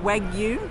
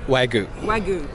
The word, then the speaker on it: wagyu: i can't pronounce it wag you wagyu so it's like a silent y in the middle yes it is what's uh what kind of is this waigu is a breed of